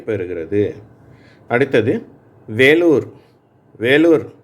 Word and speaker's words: வேலூர்: வேலூர் என்ற வார்த்தையில் ஈ என்ற எழுத்து ஏ என்ற உச்சரிப்பை பெறுகிறது.